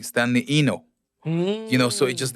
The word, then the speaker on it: Enow: Yeah, Americans would say Enow, and back home they would be like Stanley Enow, you know. No, and Enow. Yeah, and then some others are gonna be like Stanley Enow.